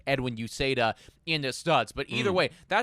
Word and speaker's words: Uceta: What we're referring to, everybody, is we got, how do you even pronounce his name? Oh yeah, I got it here. It's Uceta. Okay, yeah. Uceta.